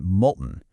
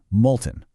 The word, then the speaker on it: molten: So, our target word is molten, pronounced with two quick syllables, molten. And notice how that first syllable rhymes perfectly with colton.